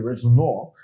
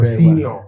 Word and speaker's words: Rosenior: work another time and then brought in a Rosenior. Uh so, I hope I pronounced that very well. Rosenior.